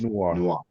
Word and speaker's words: noir: It's noir. Pretend you're French. Noir.